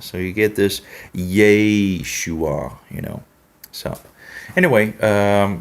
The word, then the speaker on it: Yeshua: I would spell it differently in the Latin letters to be, Yeshua, so. But anyway, because that's a Serei, not a Shava, but a Serei Nikud in regards of Yeshua. So you get this Yeshua, So anyway, like Jehovah, you have Jehovah, right?